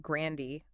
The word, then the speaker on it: Grandee: Think Grandee, like the drink, just with a G.